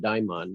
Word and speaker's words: daimon: talked about how and i pronounce it daimon there are different pronunciations but the daimon is